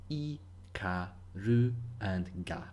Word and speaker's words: Ikaruga: it that's fine but for the japanese pronunciation we can break it down into four separate sounds e car roo and gah simple right and this